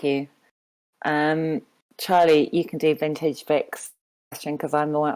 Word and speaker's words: Vintage Vic: I now know it's Vintage Vic. I know, for a long time I thought it was Vintajevich or something, sort of, I don't know, Eastern European.